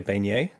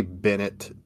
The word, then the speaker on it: Beignet: Orleans delicacy, like a beignet? Like beignet, is that what that is? Okay, delicious. It's spelled Bennett, and I've heard people say Bennett du Paris, but it's actually Beignet du Paris, I think.